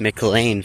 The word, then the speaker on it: McLean: I hope you enjoyed this short educational video about the uh MLAN mounts that are spelled Mlean but pronounced Mlane for some reason.